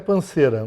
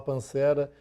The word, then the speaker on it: Pansera: O correto é Panceira, mas o carioca colocou um acento no E e começou a falar Pancera.